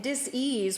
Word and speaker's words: dis-ease: You know, so, and dis-ease, we pronounce it that way because it has to do with a lack of ease with who we are in our relationship with ourselves.